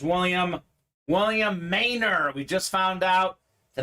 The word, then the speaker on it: Maynor: hit says William William Maynor we just found out the name is pronounced Maynor not manner uh so William nice